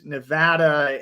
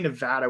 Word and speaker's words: Nevada: We've got people from Michigan and Nevada. And by the way, funny story about Nevada real quick.